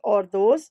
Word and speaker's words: hors d'oeuvres: This department prepares various items such as salads, starters, which are usually known as ordos, though written as hors d'oeuvres but pronounced as ordos in French.